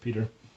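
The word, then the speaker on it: Piotr: his father peter glass is spelled p-i-o-t-r that's his first name pronounced peter glass g-l-a-s so i think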